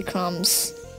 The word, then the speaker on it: crumbs: The next one, there's a lamp like cookie crumbs. Crumbs. You can follow the silent counter. Crumbs? B silent.